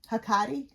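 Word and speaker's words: Hecate: I don't know how Leslie pronounced these. is H E C A T E Hakati.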